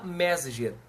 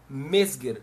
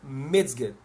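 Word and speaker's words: Mezger: ficava pensando mas T como é que eu pronuncio isso aqui né edmund medger Né o mger não é não se fala Messenger m e z G E R Messenger se fala mger ou mger certo mas a título de conhecimento pessoal já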